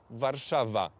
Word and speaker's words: Warszawa: he just moved his court from Krakow to warszawa that's how the name is pronounced in in Polish okay okay yes and